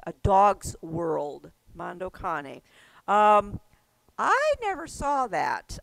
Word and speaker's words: Cane: Now, I don't know if it's pronounced Cane or Kane because that it Funny. is it It's Kane? Mondo Cane. Mondo Mondo. Cane, okay, because that it means a dog's world, like canine, as in canine, a dog's world.